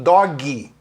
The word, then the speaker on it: dog: Sabe o que o brasileiro faz? Bota um I. Aí fala assim, dog. Só que se você falar dog em inglês, com som de I no final, na verdade é outra palavra, não é D-O-G.